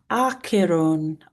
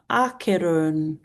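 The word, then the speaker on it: Acheron: Um is pronounced a Aeron Aeron with a long O sound at the end.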